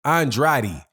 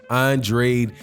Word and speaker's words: Andrade: Andrade. I've heard it pronounced both ways, but I think it's Andrade for him.